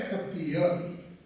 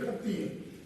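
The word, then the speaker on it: खत्तिय: में मिलता है, और उसका प्रोनाउंसिएशन है खत्तीय। क्षत्रिय नहीं, खत्तीय।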